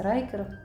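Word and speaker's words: Rieker: шкіра від німецького бренду він правильно рікер читається райкер такі кросивочки і ще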